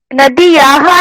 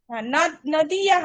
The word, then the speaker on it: नद्याः: नदीयाः नाम गंगा। আর একবার বলুন। नदीयाः नाम गंगा। नदीयाः ना, नद्याः उच्चारणটা।